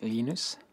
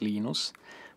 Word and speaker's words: Linus: I speak Swedish it's heinous when I speak Finnish it's Lino's when I speak English its Linus and I really don't